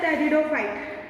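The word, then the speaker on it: pteridophyte: P silent here, याद रखना, पी में साइलेंट हियर ऐसे रहता है।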